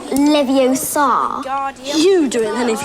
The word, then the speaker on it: Leviosa: Leviosa.